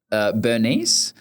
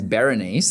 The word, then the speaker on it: Berenice: She didn't tell me that her name was not Bernice, because her name is Berenice. That's how it's spelled.